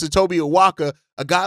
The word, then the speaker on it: Awaka: A guy like Tobia Awaka uh uh Awaka is how you pronounce it. Tobia Awaka.